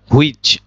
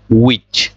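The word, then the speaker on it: which: get that news একইভাবে হুইচ এই হুইচ টা আমাদের হচ্ছে ভুল প্রোনাউন্সিয়েশন এটার কারেক্ট প্রোনাউন্সিয়েশন টা হচ্ছে উইচ দেখেন এখানে এইচ টা বাদ গেল হুইচ রস রসই উইচ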